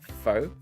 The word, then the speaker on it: Faux: he runs what's called faux speed and uh I'll spell it because it might make more sense F A ux like fo it sounds very exotic